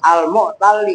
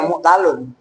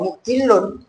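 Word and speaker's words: مُعْتَلّ: Diperhatikan ini lamnya ditasdid. Walaupun nggak ada tasdidnya ya, cara bacanya memang harus al-mu'talli, karena itu dari i'talla ya'tallu i'tilalan wa mu'tallan wa huwa mu'tallun wa dzaka ya mu'talun. Awas, bahwa mu'talun bukan bahwa mu'tilun, paham nggak?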